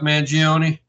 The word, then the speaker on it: Mangione: So, but right now, I like to talk about the Luigi Mangione. Oh my God, Phil, you're Italian. How do you say that name? Will you ever hear of Chuck Mangione?